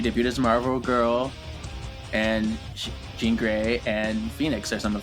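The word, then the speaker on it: Jean Grey: On today's expose, we are doing Jean Gray. It rhymes.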